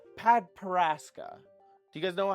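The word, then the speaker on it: padparadscha: These are what we call padparaska. Do you guys know how to spell padparaska? I can spell it right here for you. Here you go. P-A-D-P-A-R-A-D-S-C-H-A. Padparaska.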